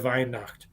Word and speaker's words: Weihnacht: Merry Christmas is Frohliche Weihnacht. So, and just remember that W's are pronounced V over there. So it's Weihnacht.